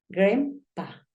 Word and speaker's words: Grandpa: decir grandmother grandma grandfather gren pa Acuérdate que esa a suena más como una e Ahorita estaba como escribiéndola